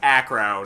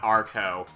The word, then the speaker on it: Acro: it when we fought him it's it's it's pronounced acro not archo and it's just for and it's actually our